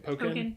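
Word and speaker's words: Pokkén: Am I pronouncing that right? Pokken. Yeah, because it's Tekken and Pokken.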